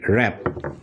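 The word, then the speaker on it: wrong: ডাব্লিউ পড়ছি না আমরা পড়ছি শুধু আর পড়ছি র‍্যাপ এরপরে রং রং রং এ দেখো এখানেও কিন্তু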